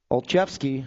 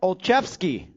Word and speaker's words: Olszewski: Barnes, Melton, Olszewski, and Whitby. I feel so accomplished getting that last name pronounced correctly. It's got a Z in it, you know? And a Uski. You hear that, Annette? Olszewski.